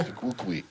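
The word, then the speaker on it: tu quoque: So Tuquoqui. something that I've seen. That's the pronunciation that says there. Tuquoqui.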